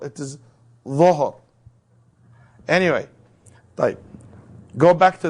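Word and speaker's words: ظهر: But the Dhuhr, they think it is Zuhr. It is Dhuhr.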